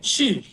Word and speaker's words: Shu: I believe I say it, is it Su? Who? How do you say your last name? Shu. Shu. Shu.